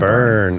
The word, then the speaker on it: Byrne: Burn spelled like David Byrne. Burn. Yeah. B-Y-R-N-E.